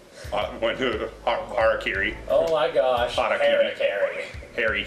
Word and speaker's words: harakiri: Or as some weird Americans will pronounce it, Harry Carey. Harakiri.